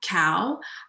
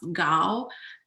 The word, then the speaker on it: Gao: about my name um i pronounce my last name cow but really in in mandarin it's pronounced gao and um what that means is tall so that's my interesting